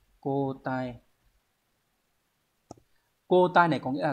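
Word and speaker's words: 交代: Từ này đọc là cô tai. Cô tai.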